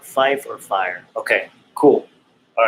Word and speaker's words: Fife: So 5 sounds like fire, right? So, see, it's spelled F-I-F-E. F-I-F-E. So Fife. So you want to pronunciate the F's. Yeah. So Fife is how you say it over the 1MC if you say it.